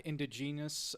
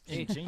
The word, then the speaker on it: indigenous: Well, the other two is black, indigenous people. Indigenous. Indigenous. Ingenious.